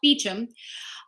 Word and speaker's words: Beauchamp: Oh, I read that Leonard Maltin and Carrie I want to say Beauchamp because that's how it's spelled, Beecham, are doing an event at the Los Angeles Theater.